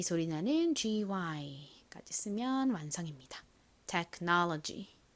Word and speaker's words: technology: 나는 GY까지 쓰면 완성입니다 technology이 know 부분에 가장 센 강세가 있다라고 말씀드렸죠 한 번 더 연습해 볼까요 기술 technology technology 좋습니다 자 이제 마지막으로